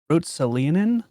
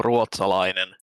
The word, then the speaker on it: Ruotsalainen: Okay, so my name is pronounced Ruotsalainen.